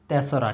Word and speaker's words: তেসরা: এটাকে উচ্চারণ করতে হয় তেসরা।